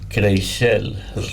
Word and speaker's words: Crixell: It's spelled, I believe it's Crixell, and it's pronounced Crixell, as I was told over there.